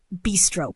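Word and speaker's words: bistro: And remember, the stress is on the first syllable.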